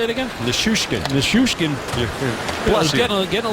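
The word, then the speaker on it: Nichushkin: Nishushkin.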